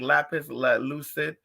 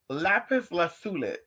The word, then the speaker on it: lapis lazuli: love lapis lazuli why i heard someone pronounce it the other day like lapis let it they do that rasta rasta they be doing it and i just think to myself like girl like girl lapis lazuli i love how it